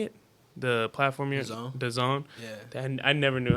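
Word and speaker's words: DAZN: it how do you say it the platform The Zone yeah and I never knew how to pronounce that thing d-a-z-n yeah let's call it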